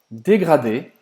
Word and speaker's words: dégradé: Dégradé. Dégradé, mesma palavra, até mesma pronúncia. Dégradé, também esse R que você vai precisar fazer na garganta.